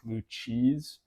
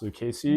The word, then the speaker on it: Lucchese: If you don't know you've never heard of that brand or never seen it spelled out, it looks like Lucchese, but it's pronounced Lucchese. No Z.